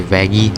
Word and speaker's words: Vaggie: the the issue that vaggie has oh I'm sorry vaggy I'm German I always like think of the English pronunciation and vaggy would be a more German way of to pronounce his name so I didn't even